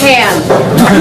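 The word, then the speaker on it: Pahaham: So, it's 7 letters, but it's pronounced Pam. Hi, everybody. My name is Pam, and I'm running for City Council in District 7 or District 10.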